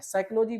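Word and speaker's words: psychology: साइकोलॉजी बोलते हो P silent रहता है।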